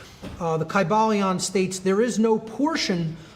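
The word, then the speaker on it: Kybalion: greek language in which there was no like short y sounds you know it would have been a long i sound chi ba leon and every syllable would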